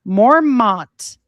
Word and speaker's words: Mormont: Mormont, pronounced Mormon, Belgium.